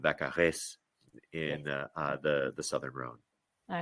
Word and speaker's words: Vaccarèse: I think Vaccarèse, it's a little bit of Vaccarèse. it's a harder Z sound, and it's an ez at the end because